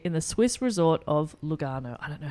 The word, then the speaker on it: Lugano: I'll It's Lugano. Lugano. Lugano. Yeah, perfect. With an Italian accent, that's Yeah. how you say it.